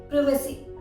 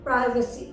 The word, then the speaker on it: privacy: PRIVACY, अगर आप UK pronunciation के अकॉर्डिंग देखें तो इसे आप प्रोनाउंस करेंगे प्रिवेसी, प्रिवेसी, जबकि यूएस प्रोनाउंसिएशन के अकॉर्डिंग इसे आप प्रोनाउंस करेंगे प्राइवेसी। तो दोनों ही प्रोनाउंसिएशन बिल्कुल सही हैं।